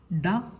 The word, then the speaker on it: ഡ: മൂന്നാമത്തെ അക്ഷരം ഡ എന്നാണ്. ഡ ഡ എന്നാണ് ഉച്ചാരണം. ഈ ടായും ഡായും പരസ്പരം തെറ്റി ഉച്ചരിക്കുന്നതായിട്ട് കണ്ടിട്ടുണ്ട്. ട എന്നതും ഡ എന്നതും ശരിയായി ഉച്ചരിക്കാൻ പ്രത്യേകം ശ്രദ്ധിക്കണം. ഇത് ഡ എന്നാണ് ഉച്ചാരണം. ഡ.